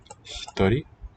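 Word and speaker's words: 一人: 行します Hitori is written with two kanji. Hitori. Oh, maybe I can do more than one. No, not so much. No, bruh. Ichi, nin. These two together read as hitori.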